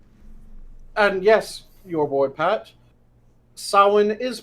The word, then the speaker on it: Samhain: And yes, your boy Pat, Samhain is pronounced Samhain.